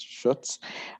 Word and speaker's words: Schutz: This would be Schutz, and he is up for re-election. Hi, everyone. Last name actually rhymes with Toots. It's probably the easiest way to remember it. It's Schutz.